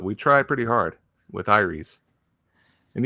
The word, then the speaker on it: Aeres: hard with iris and you can pronounce it heiress like in final fantasy vii or aries like the god of war or the way we pronounce it as iris which phonetically doesn't make sense if you look at the word but still you know